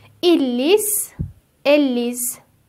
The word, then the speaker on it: lisent: lisez"(ترکیب "ez" مانند "é" به نظر می رسد)، "vous lisez"، "ils lisent"، "elles lisent" ( ent is silent).